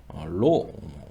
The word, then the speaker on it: rho: 그냥 rho 라고 읽으시면 됩니다 .